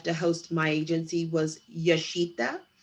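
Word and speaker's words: Jashita: host my agency was yashita okay and it spelled with a j j a s h i t a yes that's a property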